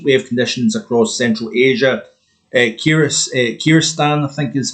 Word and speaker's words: Kyrgyzstan: Kyrgyzstan, I think is how you pronounce that, 39.8 is a May record nationally.